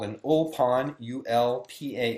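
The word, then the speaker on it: ulpan: is still practiced today it's what's called an old pond ul PA n is the way you would spell it in English and it's basically language immersion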